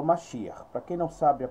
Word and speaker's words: Mashiach: Na sua pronúncia hebraica é Mashiach, tá? Mashiach.